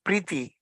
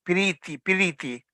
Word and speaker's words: Priti: In fact, it's Bengali, and actually the word is Priti, actually, but the way the Bengalis pronounce is Piriti.